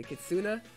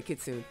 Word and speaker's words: kitsune: way up kitsune kitsune what did i say kitsuna let me see how it's spelled kids i said a kit soon i better say kitsune kitsune supernatural coming through